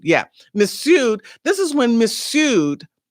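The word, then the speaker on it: Mifsud: missud this is when missud the f is silent this is when missud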